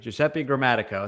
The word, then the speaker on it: Giuseppe Gramatico: to goop it up again it's uh giuseppe giuseppe gramatico it's a mouthful giuseppe thank you so much